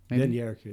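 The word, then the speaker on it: dernier cri: Do you know how to pronounce it? Dernier, I think Cree. Dernier Cree, I think. Dernier Cree. Dernier Cree, that's right.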